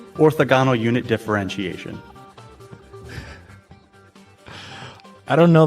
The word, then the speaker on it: orthogonal: I always pronounce it orthogonal because I learned it from reading it, but it is orthogonal.